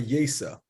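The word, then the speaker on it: ייסא: the name of Rabbi Yesa. Sounds like Yossi or Yosi, Yosef, but in the Zohar it's spelled Yesa, Yud Yud Samach Aleph.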